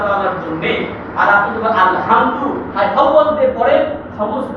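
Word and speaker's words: الحمد: এই সূরা, এই যে আলহামদু, এই আলহামদুতে যে হাই ভক্তি রয়েছে, একটা হা আছে আলহামদু, এই কণ্ঠনালীর মধ্যখান থেকে উচ্চারণ হয় আইনে বলতে হা।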